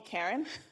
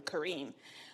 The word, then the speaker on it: Kareen: people since yesterday just don't call me Karen sometimes that gets butchered so thank you and my husband likes to say Karen with a smile so if you smile you'll pronounce my name correctly Kareem so I would